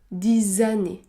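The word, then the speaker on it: dix années: nos amis ou encore 10 anné 10 ané le X se prononce Z 10 années vous pouvez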